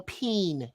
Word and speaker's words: peen: That's pronounced ball peen hammer. It's P-E-E-N.